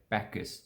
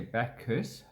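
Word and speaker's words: Bacchus: by bloody farmland okay so you just say backus so b-a-k back this so two syllables back this we don't say back curse huss max or batches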